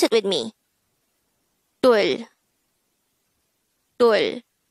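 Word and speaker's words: 둘: Dul. Dul. This is just composed of one syllable, which is dul. Pronounce it with me. Dul.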